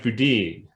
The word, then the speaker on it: Boudin: i clerked which is it's generally he pronounces judge boudine and we we did